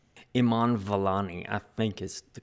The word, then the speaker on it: Iman Vellani: Iman Vellani, I think, is the correct pronunciation.